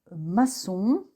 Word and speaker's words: maçon: Donc il se prononce SE comme dans le mot maçon, et la cédille transforme donc le son que en son se.